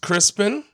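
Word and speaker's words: Crispian: name is Crispen pronounced Crispen Crispen it has an A in it somewhere it I don't care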